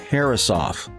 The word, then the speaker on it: Herreshoff: But Halsey was giving a speech saying that his name, the family name, was properly pronounced Herreshoff.